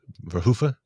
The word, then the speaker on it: Verhoeven: But Paul Verhoeven, I believe is how you say Verhoeven. I'm not from Holland. The N is silent. I believe the N is like if you're speaking Dutch, it's the N is silent, but I don't know how to say that. Verhoeven.